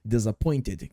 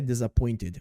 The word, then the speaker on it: disappointed: o outro então vamos prestar atenção na palavra disappointed perceba que a pronúncia é disappointed mas numa frase fica meio disappointed eu meio